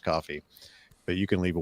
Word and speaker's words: Ko-fi: uh our coffee now ko-fi I guess that's pronounced coffee but you can leave